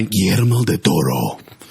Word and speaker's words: Guillermo del Toro: Directed by Guillermo del Toro.